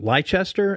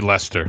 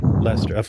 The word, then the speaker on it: Leicester: place in England like uh how do you pronounce it? Is it Lychester? L E I C E S D E R. Uh it'd be Lester. Lester.